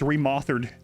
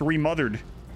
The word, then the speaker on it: Remothered: forget dream daddy remauthored you might be saying yourself Adam remauthered surely it's pronounced remothered it's not no no that's why my